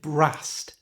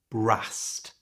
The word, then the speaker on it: brassed: Notice that this word brassed ends in an ED, but that ED is pronounced with a T sound, brassed.